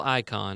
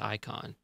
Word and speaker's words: Icahn: okay cool okay um carl icahn or i can i think its icon i think its icon I think I hear most people pronounce it that way yeah he uh he